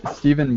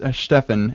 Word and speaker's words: Stephan: And Stephen. Well, hi, everyone. And I mispronounced that. That's Stefan.